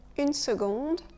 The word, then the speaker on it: seconde: Une seconde. Dans ce cas, c'est le C qui ne se prononce pas comme ça le devrait. On le prononce G. On le prononce comme si on avait un G.